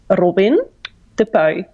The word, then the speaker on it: Robin De Puy: I will do it in Dutch, so it sounds like my real name. So my name is Robin De Puy.